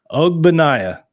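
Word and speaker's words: Ogbonnia: I've heard people calling him um ogbo is that pronounce his first name for us Mikey p o banaya OG banaya all right see that we'll just Coltrane OG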